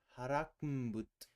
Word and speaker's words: Harakmbut: Harakmbut. Stress on the second syllable.